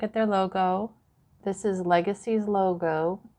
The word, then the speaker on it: LGCY: Okay, guys, so just to wrap that up a little bit, the company's name was Legacy, but it's spelled LGCY Power, Legacy Power.